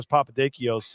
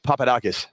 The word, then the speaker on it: Papadakis: but your your friend Petro Papados uh they he jumped in we got work on your Greek pronunciation how how is it Petros Papadakis Papadakis okay yeah you know him